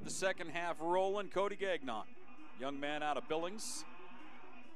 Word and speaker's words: Gagnon: I always have to stop myself in pronouncing Gagnon's name. It's the hard non, as I have family ties to Gagnon, and the syllable isn't near as stressed at the end. So instead of Gagnon, we're Gagnon.